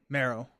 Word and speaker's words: Marrow: Rhymes with Sparrow. Marrow. Marrow? Okay. Marrow? Not Morrow.